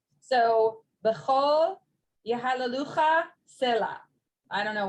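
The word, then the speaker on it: בכל: B'chol. Kadoshim, it looks like b'chal, but it's actually b'chol.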